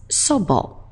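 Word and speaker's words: 祖母: The humble form, on the other hand, is sobo, sobo. So when she can't find a bar, she's at home and she's asking, so, where's the bottle?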